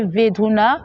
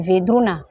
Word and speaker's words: Vedruna: Et notre fondatrice s'appelle sœur Joaquina de Vedruna. D'autres personnes prononcent Vedruna, c'est le B en espagnol, on prononce B.